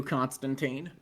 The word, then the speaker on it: Constantine: so one of us could do Constantine. Tyne. Yes, I'm a fucking nerd. I say that's technically how it's supposed to be pronounced.